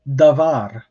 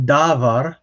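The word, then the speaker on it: דבר: syllable so for example the word davar okay so this is the word for word so we put the stress on here the second syllable the var it is not davar um i've actually heard people put this stress on the long sil on the first syllable um and that is a very wrong thing to do um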